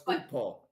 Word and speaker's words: upo: So it's upo. Okay. Opo. Thank you, Paul. But if it's a vegetable, it's upo. That's how you pronounce it.